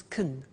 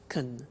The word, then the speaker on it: can: she can speak Spanish now notice the pronunciation of can becomes Kun shekin she can speak Spanish he can play tennis we can speak German all right so can becomes Kun when we speak now the negative form